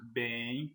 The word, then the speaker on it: bem: Mas quando vamos pronunciar, nós nós pronunciamos bem como colocasse um i aqui entre o e o i.